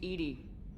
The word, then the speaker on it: EDI: airlock is a jar why are you named Ed Ed is the phonetic pronunciation of Eed that is an acronym for